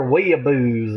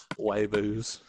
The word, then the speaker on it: weeaboo: read it and they were like, it's one of them there weeaboos again. Wayboos. Weeaboos. That's how they say it in Australia. It's just wayboos.